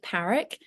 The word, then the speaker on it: Parrack: Well, I pronounce it Parrack, but lots of people pronounce it Parrack, which I think is quite fancy. So either way, it's fine.